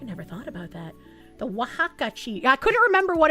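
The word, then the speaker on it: Oaxaca: Haka is pronounced wajaka.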